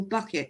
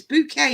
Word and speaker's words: bouquet: good mountains do not call me eventual bucket it's bouquet if you're gonna do it